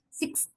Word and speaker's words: sixth: That last s is pronounced in front of the, this the, and the is a dental sound. Therefore, this preceding s also becomes dental. Sixth.